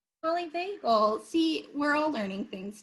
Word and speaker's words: polyvagal: Polyvagal. Polyvagal. See, we're all learning things today, including how to pronounce the word polyvagal.